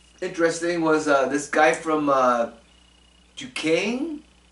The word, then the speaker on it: Duquesne: The other player I saw that was interesting was this guy from Duquesne. It's called Duquesne, but it's spelled D-U-S-Q-U-E-S.